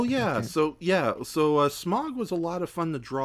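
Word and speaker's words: Smaug: No, Smog. You're supposed to say it like that, not Smog. Smog. Like it's you're like meow, like meow, but with an S and a G at the front.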